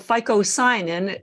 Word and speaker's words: phycocyanin: green algae the blue pigment event is called FICO sign in it's a long mouthful it's spelled p-h-y-c-o-c-y-n-i-n anyways we're going to talk about